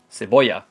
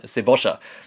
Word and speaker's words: cebolla: Einmal bei der Aussprache, das LL wird nämlich anders ausgesprochen. Also im Spanischen würde man ja sagen, zum Beispiel zur Straße, Calle. Aber in Argentinien sagt man Calle oder Zwiebel. Cebolla. In Argentinien sagt man Cebolla.